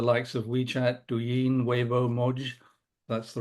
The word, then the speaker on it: Moj: competition with the likes of WeChat, Douyin, Weibo, Moj, that's the right way to say it.